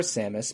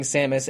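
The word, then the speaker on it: Sammus: amazing I I Adore samis my first my first that I first learned about her um her stage name is Samus spelled with two M's but otherwise like the Metroid protagonist um I uh I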